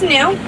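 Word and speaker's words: gnu: Their Afrikaans name is Nu, but it's spelled G-N-U. And that's because their grunting noise sounds like new, new.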